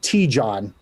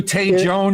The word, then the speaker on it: Tejon: Now, if you're from Jersey, it's pronounced T-John. But the actual pronunciation is Tejon.